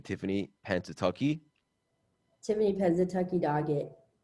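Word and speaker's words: Pennsatucky: so what was the characters how do you pronounce our name tiffany pantatucky tiffany penza tucky doggett it's a infamous role everybody loves you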